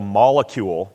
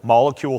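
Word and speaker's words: Molekule: small particulates this one's called a molecule molecule spelled with a k this is a standalone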